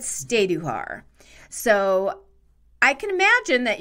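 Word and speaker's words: Stajduhar: foreign language names period the original pronunciation is steiduhar and steiduhar families are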